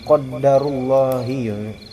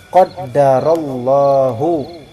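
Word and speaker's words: قَدَّرَ اللهُ: Kemudian Allah di sini kan isim mudhaf jadinya qaddarullahi, enggak bisa. Jadi yang benar qaddarallahu, ya, wa ma syafa'al.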